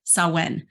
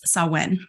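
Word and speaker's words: Samhain: Celtic Festival of ready sawen now I don't know why it's spelled some main but it's sawen so it means The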